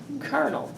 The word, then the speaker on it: colonel: on the first one Colonel what do you think sounds better colonel you know what a kernel is like a kernel of corn popcorn yeah have you